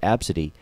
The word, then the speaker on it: Abcde: it weird but the the pronunciation of AB city that sounds like that's